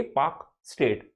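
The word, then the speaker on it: Palk Strait: पी ए एल के है पी ए एल के पाक स्टेट जब हम बोलते हैं तो एल साइलेंट हो जाता है इसमें तो गल्फ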